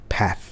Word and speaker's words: path: กัน ประจำ บา อ่ะ มัน ก็ คือ pth นี้ แหละ จริง ๆ มัน ออก เสียง ว่า paat นะ ครับ p a